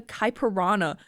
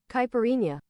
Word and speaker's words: caipirinha: You pronounce the H? I thought it was like a piranha.